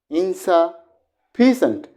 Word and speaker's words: insufficient: I mean that the primary stress above the part or the syllable of the word will be louder sound than the secondary stress.